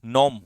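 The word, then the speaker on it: gnome: ठीक है, नॉम, जी साइलेंट, नॉम होता है बोना, डिमिन्यूटिव, साइज में बहुत छोटा।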